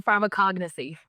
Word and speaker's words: pharmacognosy: I'm gonna mispronounce it. Or pharmacognosy.